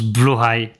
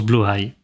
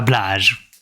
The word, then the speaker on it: Blåhaj: Il suffit de penser à une certaine peluche d'Ikea qui se prononce Blåhaj. Que je prononce toujours mal aussi. Donc... Oui, non, mais ça se prononce Blåhaj. Et pas Blage. Oui, c'est Blåhaj.